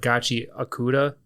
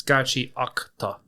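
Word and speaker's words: Gachiakuta: up and a lot a lot of people might have said gachi akuda it's gachi octa. Yes. If you listen to any of the interviews with the mangaka she says gachi octaca.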